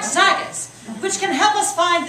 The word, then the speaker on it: Zagat's: Like Zagat's, I've never said that word, is that how you pronounce it? Yeah. Like Zagat's, which can help us find the best places